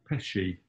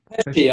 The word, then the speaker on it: Pesci: Pesci. Pesci, I'd say. It's a bit more of a sh before the k.